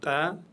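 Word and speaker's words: تاء: La lettre Ta Ta, toujours légère, aucune exception. C'est le T de la langue française prononcé légèrement. Ta, et non pas ta, ta. Non, on dit ta dans la langue arabe.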